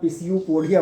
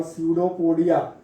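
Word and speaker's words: pseudopodia: और इनके लिए टेक्निकल नाम है, ये ध्यान रखना, पिसियोपोडिया मत पढ़ देना, नहीं तो पिसियोपोडिया पिन्यूमोनिया जैसा हो जाएगा। निमोनिया और स्यूडोपोडिया, इनमें आपका पी साइलेंट है, तो हमने क्या लिख दिया था?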